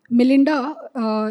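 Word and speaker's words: Mlinda: Um M Linda is pronounced as m l i n d a, not to be confused with BMGF.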